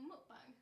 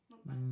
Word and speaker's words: mukbang: Well, mukbang.